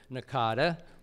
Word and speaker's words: NACADA: try for something else we came up with Nakata or at lunch it took us a half an hour to decide how to pronounce in a CA da so it was